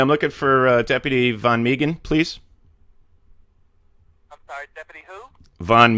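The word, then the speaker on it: Van Meghan: speak to sheriff uh von meegan please deputy von migan i don't believe he's working right now but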